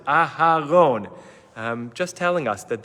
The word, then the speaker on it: Aaron: person would always say don't let it sound like Aron make sure you pronounce it aaron um just telling us